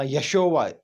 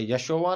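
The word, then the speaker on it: ישו: यशोवा नाम नहीं था, यशोवा नहीं है, ये प्रोनाउंसिएशन ठीक नहीं है, यशोवा, this is not correct pronunciation, ये उनके नाम का सही प्रोनाउंसिएशन नहीं है। यशु है, या शीन वाव आइन, यशु, यसू मसीह अलैहिस्सलाम का इब्रानी नाम।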